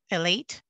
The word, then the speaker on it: Elite: As I mentioned before, the town's working with a contractor, it's a water treatment contractor, Elite is how you pronounce that.